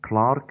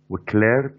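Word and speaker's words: clerk: عندي بوكينج كلارك، طبعا هي كلمه كلارك لها نطقين، كلارك لو بريتش انجلش وكليرك لو امريكان انجلش.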